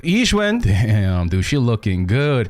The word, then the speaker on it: Yixuan: Dude, I had to watch like 10 times how to pronounce that correctly. Yixuan.